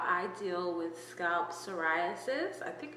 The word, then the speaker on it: psoriasis: Saras silent P then suis four syllables.